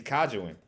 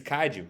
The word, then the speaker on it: kaiju: compared to them cuz of cuz um he's kajuan and I keep on pronouncing his name right y'all bear with he's Kaiju because he's is kaiju and all so he